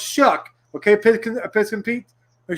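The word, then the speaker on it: Shough: year tyler shuck okay s-h-o-u-g-h pronounced shuck okay pic piss compete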